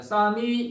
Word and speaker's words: psalm: 쌈이 시편이거든요. 여러분 쌈 싸먹을 때 쌈 그 발음입니다.